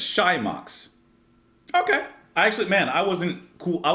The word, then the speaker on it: Xymox: Everyone, welcome to see how pronounced. Say it. Xymox. Xymox? So I guess it's Xymox.